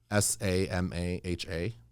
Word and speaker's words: Samaha: dot com spell it s-a-m-a-h-a dot com okay um kind of like yamaha but with an s samaha exactly uh and that's